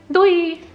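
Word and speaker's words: doei: well it's really funny it's just like one syllable which is Dewey and if you will come to dinner on us you will notice that people actually say in a very high-pitched excited voice which makes me think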